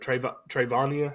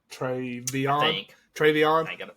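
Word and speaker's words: TreVeyon: Another big thing here is Ohio State finally found a running back at Trayvonia. Is that how you say it? Travion.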